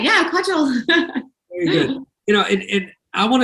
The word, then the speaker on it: Kaajal: I'm still pronouncing that right, Kaajal. You got it right, yeah, Kaajal.